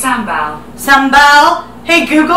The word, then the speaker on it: sambal: Hey Google, how do you say S-A-M-B-A-L? That's pronounced sambal.